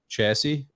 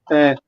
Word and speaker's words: chassis: same chassis inside them chassis yes it's pronounced differently from different countries but uh chassis if you want but it's chassis chasse the air is pulled